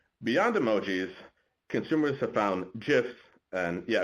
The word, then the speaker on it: GIF: emojis consumers have found gifs and yeah according to their inventor they are it's pronounced GIF are par to be